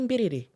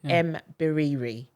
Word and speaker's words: Mbiriri: And I'm like, oh, you would say Mbiriri, but it's pronounced Mbiriri.